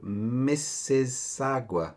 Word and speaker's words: Mississauga: He's from a place in Canada, of which you're also going to need to be able to pronounce properly, called Mississauga.